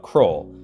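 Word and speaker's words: Kroil: around and found out there's this stuff called crawl for those of you who don't live in South Arkansas cwl is spelled k r o i l o i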